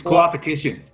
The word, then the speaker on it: coopetition: It's not cooperative. It's co-opetition.